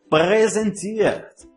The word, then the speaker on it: präsentiert: Estes dois pontinhos faz com que a letra A ganhe o som de E um pouquinho esticado. Präsentiert. Sinta a sutileza na pronúncia desta palavra. Präsentiert.